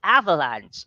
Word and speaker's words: avalanche: Ayan for our table, but we need to correct the pronunciation muna nung kanilang avalanche. Okay, it's avalanche.